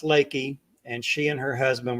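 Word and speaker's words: Leakey: at the title of it it looks like leaky so you're it looks like you're going to be staying in a leaky historic Inn we were just hoping it wouldn't rain but Dallas said no it's pronounced Lakey and she and her husband were just wonderful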